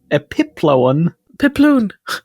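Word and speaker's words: epiploon: gek and that's spelled just so you know it's spelled e p i p l o o n like balloon epip pipon it comes from the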